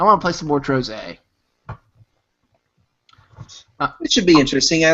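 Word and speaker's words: Trozei: Troze. Oh, really? Troze. Yeah, you've been pronouncing it wrong all this time.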